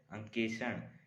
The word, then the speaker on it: अंकेक्षण: आज का नया शब्द है अंकेक्षण। इसका अर्थ है हिसाब किताब या आय वाय के आंकड़ों की जांच करना। इसका उच्चारण है अ क में एक की मात्रा क्ष ण।